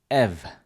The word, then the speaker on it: ev: Ev. Ev. So that's like just pronouncing the e and v sound.